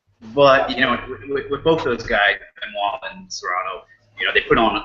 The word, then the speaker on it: Benoit: No, I don't think it should have been a draw, but I also don't think Benoit, which is how you pronounce his name, should have won.